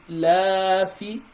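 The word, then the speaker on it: إيلاف: So you see, I pronounce this one differently. It's called madlin. Why? Because this ya is having a sukun, and so when it have a sukun, it's gonna be ay.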